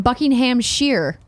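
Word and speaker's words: Buckinghamshire: the game came out ok Oh Bob's it's pronounced buckingham sheer Buckingham sheer is it really that's what he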